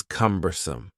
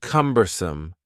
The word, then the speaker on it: cumbersome: The next word is cumbersome. The word cumbersome has 3 syllables, and the stress is on the first syllable. Cumbersome, cumbersome. Something that is cumbersome is